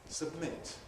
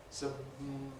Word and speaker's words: submit: Submit. Submit. Notice we don't say submit. We don't separate the lips. We just turn the B into an M. Submit.